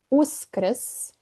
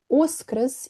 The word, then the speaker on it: Uskrs: We say Uskrs or Vaskrs. I know, too many consonants, and it's not the easiest word to pronounce, but it is one of the most beautiful ones.